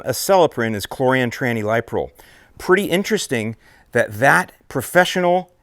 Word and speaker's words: chlorantraniliprole: liquid concentrate version, and the way that I pronounce it is chlorantraniliprole. So the active ingredient in the brand name Acelepryn is chlorantraniliprole.